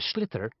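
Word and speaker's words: sliotar: this ball called a slither that's SL i OT a or so it's not spelled the way it's pronounced u hisses into the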